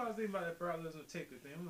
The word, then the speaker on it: Brock Lesnar: We have this monster of genetics, Brock Lesnar. No, you didn't say that. I didn't say it right. It's Brock Lesnar.